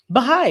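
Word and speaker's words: Baháʼí: Baha'i, yeah.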